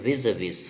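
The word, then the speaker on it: vis-à-vis: ठीक है, इसको बोलते हैं विज विज। फ्रेंड्स, एक चीज़ याद रखना है आप, प्रोनाउंसिएशन जो होता है 3 प्रकार से होता है।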